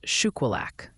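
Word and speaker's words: Shuqualak: south of mon Shila the town south of Mackin Mississippi is pronounced shilak back to you Ryan shulak all right thank you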